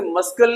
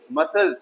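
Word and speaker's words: muscle: इस तरीके से मस्कल नहीं, मसल, मांसपेशियां।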